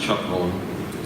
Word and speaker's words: Capoun: was growing up, the Capoun name was really pronounced Chapon. And when we grew up in Dwight, Nebraska, my dad grew up in a small town of Loma. That was the Czech way to pronounce our name. But as we moved from Dwight to Schuyler, my dad kind of just conformed to saying Capoun.